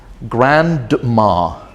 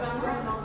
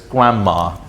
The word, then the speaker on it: grandma: I also heard someone saying this word but pronouncing it as grandma. But what what is more a more natural way of saying that? Grandma. Yeah. Very good. Grandma, right? So the D is gone.